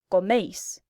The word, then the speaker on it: coméis: AR verbs get an AIS ending, pronounced ice. ER verbs get an EIS ending, pronounced ace. And IR verbs get just an IS ending, pronounced is.